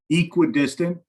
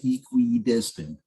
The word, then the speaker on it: equidistant: It's equidistant, but people tend to like really enunciate it and say equidistant, so I think that sounds weird. So I just try to minimize the what is that, the third syllable?